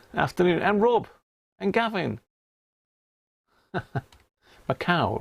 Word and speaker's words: Macau: and rob and gavin macau rhymes with cow was a portuguese colony